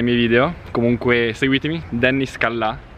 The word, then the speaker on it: Callà: Comunque seguitemi, Dennis Callà, con l'accento sulla A, che tutti non lo mettono.